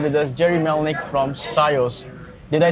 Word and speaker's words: SIOS: today we have with us Gerry Melnick from Cius did I say it right you said perfectly